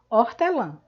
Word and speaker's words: hortelã: a gente tem aqui o h que é inscrito mas não é pronunciado nós não dizemos hortelã nós dizemos hortelã certo e temos o an